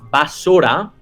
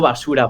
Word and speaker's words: Basora: Y entonces está ubicado en una provincia que se llama Basora, no basura, Basora.